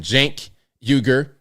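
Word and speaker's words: Cenk Uygur: Jank Uger.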